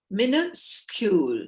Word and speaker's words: minuscule: word is being introduced it sounds like mini school miniscule sounds like mini school and here the spelt um repronunciation is also given minuscule minuscule and rogers miniscule